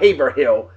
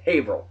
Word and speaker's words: Haverhill: the way Haverhill h-a-v-e-e-r-h-i-l-l Haverhill not Haver not Haverhill it's Haverhill that's how it's pronounced I Haverhill Massachusetts January 12th and UFO 1965.